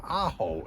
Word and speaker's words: Ajo: I am going to give you a tour of the city of Aaho is how you pronounce it and it's a Spanish term that means garlic.